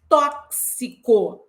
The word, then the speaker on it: tóxico: para uma mesma letra isto ocorre em tóxico meu amigo nada de falar tosse porque tóxico não vai rolar né então a pronúncia